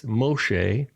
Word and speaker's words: Moshe: you know um and it's just like Moses right it's not it's Moshe but the Greek didn't have a sha so they use a sigma and then in both